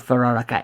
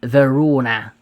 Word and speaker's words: Verona: Veronica yes it was no it's not Veronica it's Verona I'm getting a name wrong it's Verona Park I sorry Verona Park